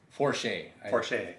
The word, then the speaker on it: Porcher: Do you know how to pronounce it? It's Robert Porcher? Forche.